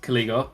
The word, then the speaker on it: Caligo: It was a fairly routine kind of trio sweep for Ash against Caligo, however it is pronounced, Caligo, as it is, I've been informed.